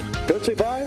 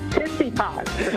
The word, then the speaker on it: Tsitsipas: Why is Griffin right on the pronunciation? You're a tennis fan. Tsitsipas. Yeah. Tootsie Pie? What is it? Tsitsipas.